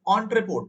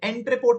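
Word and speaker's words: en route: ध्यान रखना ई से स्पेलिंग है बट ओ से प्रोनंसिएशन होता है। तो प्रोनंसिएशन इज ऑन रिपोर्ट। बोलने से ओ ओ वाला साउंड आएगा। बट लिखने टाइम ई लिखते हैं। एंट रिपोर्ट नहीं बोलते हैं।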